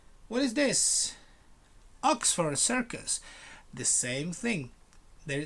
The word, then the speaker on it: Oxford: right what is this oxford circus the same thing there there are no circles here oxford you um stress the word in the first celeb oxford not oxford please